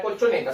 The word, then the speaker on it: colchoneta: Ahora, la palabra colchoneta. Separamos. Use las palmas. Colchoneta. ¿Dónde cargo la voz? En la sílaba ne.